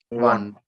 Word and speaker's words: won: or w-o-n-k pronunciation care tell me what is the pronunciation of w uh o n one one just see can you